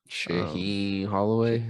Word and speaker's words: Shaheen Holloway: Shaheen Holloway.